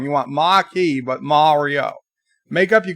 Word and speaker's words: Maquis: those two pronounces do they don't say the s Vance a marquis machi is there a difference marquee machi you wanted Mario and now I'm saying marquee but that's wrong you want machi but Mario make up